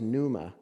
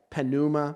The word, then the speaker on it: pneuma: greek the word is pneuma and i've heard people mangle that word so bad panuma panema panauma i've heard some really weird pronunciations the words numa the p is silent pneumatic if you've ever